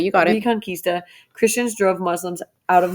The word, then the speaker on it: Reconquista: Reconquista, you got it. Reconquista, Christians drove Muslims out of much of Europe.